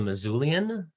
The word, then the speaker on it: Missoulian: You are the managing editor of The Missoulian. Is that pronounced correctly?